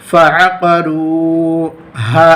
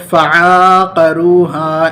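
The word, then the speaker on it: فعقروها: ہجے یاد رکھنی چاہیے، ورنہ بچے جو مکتب وغیرہ میں پڑھتے ہیں صحیح ڈھنگ سے ہجے یاد نہیں کرتے تو اس طرح پڑھتے ہیں فعقا، اس طرح سے کھینچ دیتے ہیں، نہیں تو فعاقروہا اس طرح سے کھینچ کر پڑھ لیتے ہیں.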